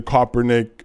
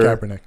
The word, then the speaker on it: Kaepernick: like he was wearing the coppernick sweater Kaepernick Kaepernick sorry for the mispronunciation and the make America